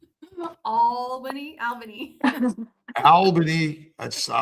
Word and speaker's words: Albany: Albany, Albany. Albany. I just I love that pronounce It's the best. I should All Is that A L L B A N Y? It's A L Al- bany.